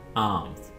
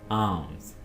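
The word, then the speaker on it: alms: English है sacrifice sacrifice खैरात को इंग्लिश में कहते हैं आर्म्स आर्म्स यहां पे एल को आपने खामोश रखना है साइलेंट रखना है तकाफ की इंग्लिश है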